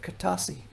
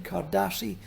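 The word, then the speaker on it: Kertassi: This is the kiosk of Kartasi, or in Nubian Kardassi, the pronunciation is different.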